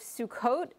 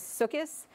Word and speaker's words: Sukkot: We just finished the holiday of Sukkot, also known as Sukkis. And Sukkis is the Ashkenazic pronunciation, whereas Sukkot is the more modern Hebrew-influenced pronunciation.